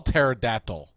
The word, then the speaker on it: pterodactyl: How do you look up I can't even spell pterodactyl. It starts with a P. Pterodactyl. Pterodactyl. Pterodactyl. Pterodactyl. Just use spell check, man. Does that work? Pterodactyl. Pterodactyl. The patera is silent.